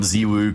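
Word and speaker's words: ZywOo: They don't call him, you know, they call him Zwoo cuz that's supposed to be how it's pronounced.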